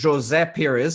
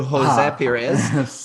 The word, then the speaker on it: José Pires: name is pronounced as jose perez as opposed to jose perez because it's portuguese versus spanish but listen i am